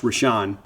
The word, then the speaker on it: Rashen: rashen Thomas rashan Thomas that's how it's spelled spelled rashen pronounced rashan uh in 2023 he